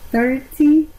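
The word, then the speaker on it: thirty: Pueden decir 30 o pueden decir 30. We are going to make 30 flower arrangements. Acuérdense, la TH es como los españoles pronuncian la Z.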